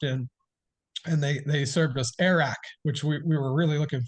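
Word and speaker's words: airag: It's spelled Arag, but it's with a little bit of a K to it.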